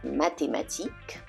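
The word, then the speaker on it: mathématique: regular T always always in words such as mathematic mathematic the age is always silent athletic athletic 10 in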